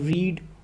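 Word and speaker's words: read: verb कहेंगे इसी तरह रीड जो है यह जो है फर्स्ट फॉर्म ऑफ वर्ब है इसकी पास्ट फॉर्म रेड है स्पेलिंग यही होंगे लेकिन वो रेड हो जाएगा पढ़ने में प्रोनंसिएशन रेड होगी तो उसमें भी ईडी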